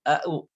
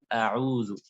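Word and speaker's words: أعوذ: Jadi kalau a itu di dalam perut, sedangkan a ain di atas. Nah, jadi bisa kita kadang-kadang bacanya dua-duanya au, padahal a'udzu.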